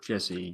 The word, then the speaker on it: Jesse: Jesse, yeah. Jesse, yes. I always say Jerry, but Jesse was there.